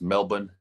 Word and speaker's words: Melbourne: Canberra in Melbourne Melbourne they don't pronounced their R's Melbourne and then we're doing